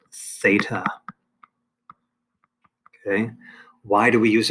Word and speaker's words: theta: a greek letter and that greek letter is pronounced theta okay why do we use a greek letter